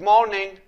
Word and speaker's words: morning: Good morning. So الار هنا silent.